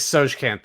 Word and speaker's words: Tsojcanth: I think Tsojcanth is the way to pronounce it.